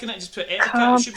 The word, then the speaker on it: Ettercap: ETTERCAP. ETTERCAP. E.T. Okay, thank you. I thought you said era, not etter.